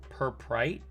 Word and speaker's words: Purpurite: Oh, I did want to point out, I got PBT fans Purprite. Yeah, that's how you say it. Purpurite.